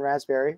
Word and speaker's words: raspberry: in pi star and raspberry remember the phrase the silent p and raspberry uh then what we're